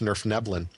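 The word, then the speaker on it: Svirfneblin: and I believe that their actual name is pronounced Nerf nebin I think I actually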